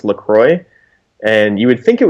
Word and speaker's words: LaCroix: people, it's actually pronounced LaCroix, and you would think it was pronounced LaCroix, but if you go to their website, they say it's pronounced LaCroix like enjoy.